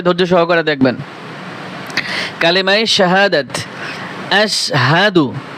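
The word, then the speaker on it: أشهد: দেখবেন কালেমায়ে শাহাদাত আশহাদু দেখেন এখানে কত বড় একটা ভুল করে আশাদু পরে গ্রামের মানুষ আমার মনে হয় 100 মানুষের কাছে যদি জিজ্ঞেস করা হয় তার মধ্যে 90 থেকে 95টা মানুষ বলবে আশহাদু বলবে এখানে আসহা এইযে দেখেন হা জবর হা সাদু বলে আশহাদু আশহাদু আল্লা ইলাহা আশহাদু আল্লা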